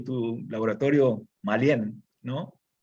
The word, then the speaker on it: Mallen: Bueno, yo he estado curioseando, y tu laboratorio, Malien, ¿no? O Mayen, ¿cómo se pronuncia?